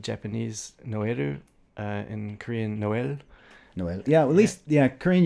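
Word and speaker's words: Noël: um and of course in english i would just say null which is kind of the l kind of gets dropped in new zealand accents anyway yeah to a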